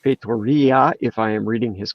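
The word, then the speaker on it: Feitoria: i would like to thank john for telling us it's pronounced fatoria if i am reading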